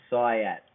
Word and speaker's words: Syatt: jordan syat did I pronounce that right Jordan that was perfect man